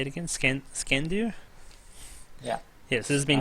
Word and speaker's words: Skandr: Skandr? Yeah. Yes, this has been Skandr, Skandr.